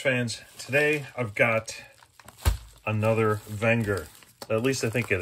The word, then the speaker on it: Wenger: could always fix those look at that the wenger alpine man that's a gorgeous watch all right let's watch this quick video technically pronounced wenger the company dates back to the late 1800s